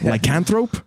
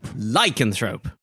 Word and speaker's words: lycanthrope: that they hate lycanthropes you put the emphasis on the wrong syllable lycanthrope like a throat can throw lycanthrope lycanthrope close why would they